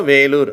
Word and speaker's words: Vellore: இதை வெல்லூர்னு சொல்வது உண்டு. ஆனால் நம்ம பொதுவாக வேலூர் அப்படின்னு சொல்கிறோம். மேட்டூர், வேலூர். இதெல்லாம் தமிழ் பெயர்கள். இதை ஆங்கிலத்தில் எழுதும் பொழுது அந்த இ என்ற எழுத்து போடுறாங்க. அந்த இ என்ற எழுத்துக்கு என்ன உச்சரிப்பு கிடைக்குது?